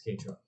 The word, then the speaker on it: Kei: It's K truck. K truck. But K trucks are. It's spelled Kei.